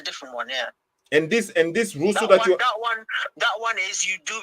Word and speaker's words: ghusl: It's ghusl. Ghusl. Is it the same as ablution? Let me spell it to you.